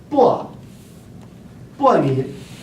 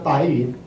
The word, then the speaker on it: 白云: 白 in ancient times is fourth tone. It's pronounced as 薄云. Never ever 白云.